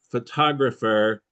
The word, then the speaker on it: photographer: Another example here we have three words photograph photographer photographic. Photograph photographer photographic. But the first one photograph the stress is on the first syllable. Photographer the stress is in the second. Photographic in the third.